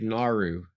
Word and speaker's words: Gnar: Nar has 2 Nar? syllables in it, but the second one is very subtle. Oh, gnar. It's like Naru. Like Nar, it's like Naruto, but you take the toe off.